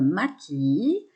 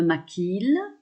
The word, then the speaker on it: maquille: Quand je conjugue, je dis je me maquille. Attention, vous le savez, en français, souvent le double L, on ne le prononce pas. Donc ne dites pas je me maquille.